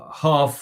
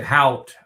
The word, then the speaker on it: Haugh: Condon, but like uh Haugh or how do you say Haught?